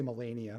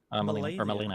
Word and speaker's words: Melina: I want to say Melania, but I don't think that's right. Melina. I can't pronounce her name, so that's weird. Disney's dating that person from Elden Ring, dude. Yeah. Melina. Okay. The E's are very weird in Swedish, but it's Melina is what I call it in English.